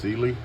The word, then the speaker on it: Cyelee: It is pronounced Cyelee.